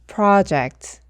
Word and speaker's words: project: 여기서 O도 O 소리가 나지 않고 소리가 난다고 했죠. 프로젝트가 아니라 project 이렇게 발음해 주셔야 합니다.